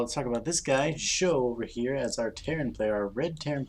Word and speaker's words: SjoW: but it is pronounced show i believe show just like a TV show in with a little bit of an extra j sound in there but i'm almost positive